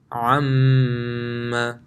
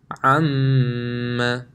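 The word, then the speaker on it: أَمَّا: Anytime you see a meme with a tajweed, so a meme mushaddad or a noon mushaddad, it will be read with ghunna. How does it sound? The examples are here. Imma, amma, ka'anna.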